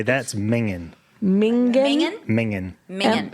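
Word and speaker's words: minging: You say that's mingin. Mingen. Mingen? Mingin. Mingen. Spell it.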